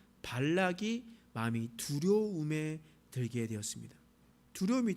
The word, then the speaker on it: 발락: 그런데 그곳에 있었던 모압 왕 발락이 마음이 두려움에 들게 되었습니다. 두려움이 들었어요. 그래서 어떤 일들을 하게 되냐? 발람을 불렀습니다. 여러분 발음을 한번 해봅시다. 모압 왕 발락 따라해 봅시다. 모압 왕 발락 락입니다.